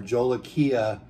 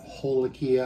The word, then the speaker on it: jolokia: a pimento jolokia ice or jola kia what depends on how you say it hola kia i've heard of different ways jolokia ice that's how i like to say it so it's a